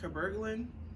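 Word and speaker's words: cabergoline: spelled cyber golem s sy bregoline but it's pronounced kuberlin it's funny so i've been taking that over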